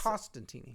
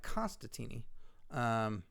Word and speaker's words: Costantini: No, I believe it's... Costantini. Costantini. Costantini. It's the second N. All right. Well, I apologize for that. Mike Constantini.